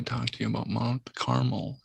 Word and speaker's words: Carmel: very aware of mount carmel and uh i don't say caramel because that is just not how it's pronounced but a-r-m-e-l it reminds me of